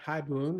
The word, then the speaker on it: haibun: Is it haibun?